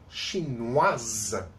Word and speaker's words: chinoise: When it's for women, chinoise, we pronounce the final S when we don't pronounce the final I.